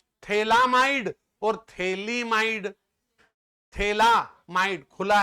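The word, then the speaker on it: phthalamide: बस ये ये है थैलामाइड क्या है ये थैला spelling Eli फथैला पीएच टी एच ए एल ए एम आई डी ई थैलामाइड थैला खुल रहा है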